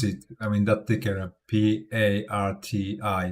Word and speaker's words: PARTI: I mean that thicker P A R T I like how should I pronounce it? Parti party. It's party. Like party without the Y sound at the end. Kind of rhymes with hearty.